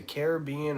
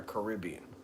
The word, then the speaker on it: Caribbean: Caribbean it's so amazing in the UK we say it different well there's only a couple ways right you can only say Caribbean or Caribbean there's no other way to pronounce that word oh brother I'm going